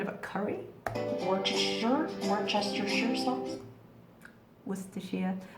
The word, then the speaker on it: Worcestershire: Worcestershire. Or actually, sometimes we just say Worcester sauce, because we don't need to say Worcestershire, because we know what it is.